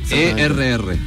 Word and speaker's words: Erriquez: Enríquez se escribe con una R sola. Enríquez, sí. Pero este se escribe Enríquez con una doble R. E-R-R. Sí, un compañero, un ex